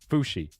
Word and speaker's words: Fuxi: Fushi. Like sushi, but with an F. I kind of like that name too. Fushi. I'm going to go with Fushi. Full send. Full send on Fushi.